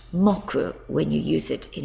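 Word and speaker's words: 木: tree here it is up here and it's pronounced mocku when you use it in a day of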